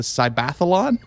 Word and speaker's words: Cybathlon: I pronounce this right it's a mixture of cyber and Athlon they're calling the cybathlon wow and if you